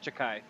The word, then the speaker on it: Chakai: to Takai now, but it's actually pronounced Chakai. Chuck-High? Yeah, it's and the A is elongated by the H, so it's Are you, Chakai.